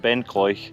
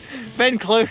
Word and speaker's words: Ben Cleuch: of 721 meters and i've just murdered the pronunciation again this is all his fault you see that's all he's been saying the whole drive up it's chloe ben clark that's where we are yeah there's a relatively local man over there that told us that's how it's pronounced so we have to